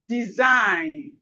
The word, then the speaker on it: design: Sign, design, design, design, foreign, foreign, no, no. The G here is silent. And we can see something here. When we have G and N, the G is silent.